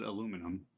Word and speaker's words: aluminum: I know I have British friends and Scottish friends that what do they call cuz we call it aluminum but it's aluminium.